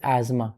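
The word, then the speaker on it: asthma: एज़्मा इस इसकी जो प्रोनंसिएशन होती है दैट इज़ एज्मा। ठीक है? जिसकी स्पेलिंग होती है ए एस टी एच एम ए अस्थमा। लेकिन हम इसको बोलते हैं एज्मा।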